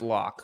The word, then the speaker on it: Lock: a drew lock or is it a levy right that's a lock okay they're saying pronounced lock so maybe it's okay okay lock there we go all right